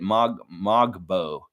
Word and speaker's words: Mogbo: Mogbo.